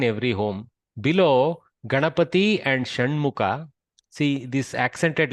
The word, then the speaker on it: Shanmukha: H is for Mahaprana. Shanmukha.